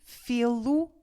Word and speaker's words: fê-lo: E neste caso, como no fim, depois do de retirar o Z, ficamos com um e fechado que nós pronunciamos como e, então neste caso, temos também de acrescentar um acento circunflexo.